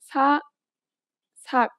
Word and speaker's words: 삭: In this case, the letter, which is usually an S sound, becomes a T sound.